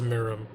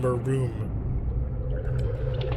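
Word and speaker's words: Maritim: Their real politically correct title is Marim. I kept saying Maroom.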